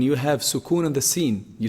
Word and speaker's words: ش: So the sheen is pronounced from the middle of the tongue, the middle section of the tongue, and the roof of the mouth.